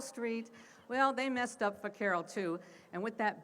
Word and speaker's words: vaquero: Now, when the Americans show up, they notice this is how the Spanish pronounced it, and especially in California, it was more that kind of a Sevilla accent. So it sounded like a B instead of a V, so vaquero.